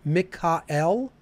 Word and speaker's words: Mikael: Okay, so the archangels are Michael, or if we're pronouncing it the ancient way, Mikael, right?